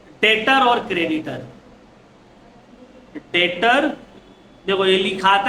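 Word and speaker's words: debtor: डेटर और creditor डेटर देखो यह लिखाते हैं डेप्टर लेकिन हम लोग इसको रीड करेंगे डेटर डेप्टर नहीं बोलेंगे डेप्टर नहीं होगा क्या होगा डी टी ओ आर लिखेंगे डेप्टर लेकिन प्रोनाउंस होगा डेप्टर बी साइलेंट याद रखना है बेइज्जती हो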